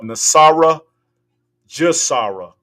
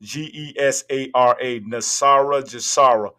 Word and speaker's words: NESARA GESARA: Nasara Gesara. You spell that Nesara Gesara. Nasara Gesara.